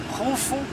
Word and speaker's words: Khufu: This is the right Egyptian names. Some people say the Greek name, which is Cheops, Kefren, Menkerinos. But for the ancient and right Egyptian pronunciation, Khufu, Khafra, Mankaura.